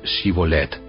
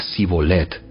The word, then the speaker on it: Shibolet: Si decía el hombre: no, no lo soy, ellos le pedían que pronunciara la palabra Shibolet. Si era de Efraín, diría Sibolet, porque a la gente de Efraín le cuesta pronunciar bien esa palabra.